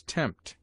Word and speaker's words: tempt: P is sometimes mute, as in psalm, and between M and T, as tempt. PH is used for F in words derived from the Greek, as philosopher, philanthropy, Philip.